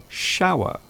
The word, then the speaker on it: shower: Sour, shower, sh, sh, sour, shower.